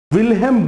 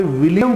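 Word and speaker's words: Wilhelm: तो शुरू करते हैं दोस्तों संरचनावाद के जनक विल्हेम वुंट ने, दोस्तों ध्यान रखेंगे आपने विलियम वुंट पढ़ा होगा। जर्मन में विलियम को विल्हेम प्रोनाउंस करते हैं, इसलिए उनका शुद्ध नाम है विल्हेम वुंट।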